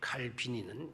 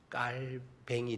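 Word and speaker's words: Calvin: 그 교회는 칼빈주의인데 칼빈이는 이제 옛날 우리식 이름이었고 원래 스위스의 발음으로 말하게 되면 깔뱅이 돼요. 그래서 요사이는 칼빈 이렇게 말하지 않고 깔뱅이라고 이렇게 부르게 돼요.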